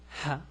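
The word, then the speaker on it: هاء: The pronunciation is ha, is like the H in English.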